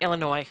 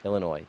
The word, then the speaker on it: Illinois: No, the S is silent. Illinois. Illinois, that no one sings anymore.